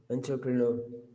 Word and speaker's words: entrepreneur: if i pronounce correct entrepreneur entrepreneur entrepreneur because it's actually it's borrowed from french it's a it's a borrowed word it's actually a french word so you pronounce it this way a french person would so it's entrepreneur entrepreneur came from french perfect yes this this